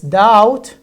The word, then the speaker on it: doubt: last one is death say right but it is silent it's silent it's doubt subtle and dead so we don't pronounce the